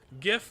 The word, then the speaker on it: GIF: GIF like graphics, not genie. Exactly. It's I mean that is just how you pronounce it. I'm here. There we go. Ow. Like g like Jeff. It's a gif.